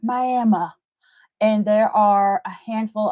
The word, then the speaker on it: Miami: is it looks like Miami but it is pronounced Miami and there are a handful of really cool